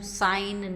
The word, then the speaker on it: sign: g a gast right it is silent when it is followed by m that is M or n as in flam sign not alic variants of